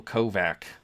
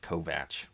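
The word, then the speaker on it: Kovach: compare the performance of Michael kovak which I believe is how you actually pronounce his name not kovat uh I'm not going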